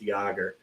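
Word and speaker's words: Yager: Sorry, it's Jagger. That's pronounced It's Y A G- E- R, but it's pronounced Yagger.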